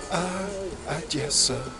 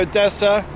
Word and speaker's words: Odessa: Well, the O is actually pronounced as an A much of the time in Russian, but I haven't found